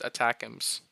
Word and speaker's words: ATACMS: It could include more of what was previously provided, like the surface to surface Army tactical missile system known as ATACMS and pronounced ATACMS, that would come with broader authority to strike deeper into Russia.